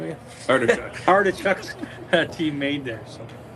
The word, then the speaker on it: Artichuk: Artichuk.